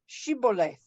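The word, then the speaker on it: shibboleth: a certain word and that word is shibole or Chevrolet but the the enemy can't pronounce the shin now this is dating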